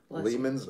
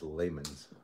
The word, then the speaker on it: Lehman's: diamond whatever from uh lehman's oh man i have such a wish list from lehman oh i know layman's it's layman's you said it right you know i had